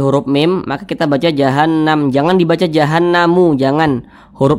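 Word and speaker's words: جهنم: Nah, cara membacanya itu digunnahkan tuh didengungkan. Jadi suaranya itu kita tahan, kita panjangkan sejenak. Jahannam begitu. Jahannam.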